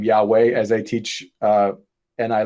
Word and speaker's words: Yahweh: for thousands of years christians called god's name jehovah until the scholars later came up with oh that's not how it's pronounced that's pronounced yahweh but christians used the name jehovah and the